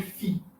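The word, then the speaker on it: φ: Mas, na época da Koiné, ou seja, na época do Novo Testamento, ele já tinha se transformado num F, num Fi. É por isso que farmácia se escreve com PH, mas tem o som de F.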